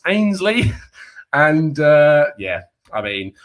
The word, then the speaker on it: Ainsley: correct me and go and it's excuse me mate um it's pronounced ainsley and uh yeah i